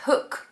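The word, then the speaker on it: Hoek: I think this one was from, it's called Hook Flowers, but it's spelt like Hoik.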